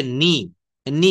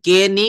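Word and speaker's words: knee: horse তো এরপরে রয়েছে নি দেখেন আমরা এখান থেকে কে নি কখনো বলি না আমরা বলি নি মানে হচ্ছে হাঁটু এরপর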